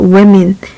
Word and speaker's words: women: women. 약간 이 발음이죠.